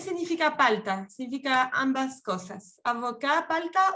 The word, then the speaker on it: avocat: Avocat, palta o abogado. Y si yo digo avocat y agrego una E, eso es abogada. ¿Ok? Avocat, avocat. En masculino no se pronuncia la T, pero sí en femenino.